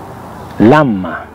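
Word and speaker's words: lamb: vaca o ternera beef la ma cordero lama recuerda que la vez de lahm no se pronuncia es moda decimos lama esta vez muda por cerdo pork cerdo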